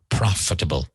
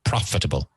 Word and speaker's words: profitable: Rentable, profitable. So the emphasis is on the first syllable, profitable, not profitable, profitable.